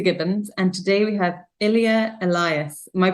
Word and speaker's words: Ilya: And today we have Ilya Elias. Am I pronouncing that correctly?